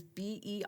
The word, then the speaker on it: Berenstain: Their name is Berenstein, stain like wood stain.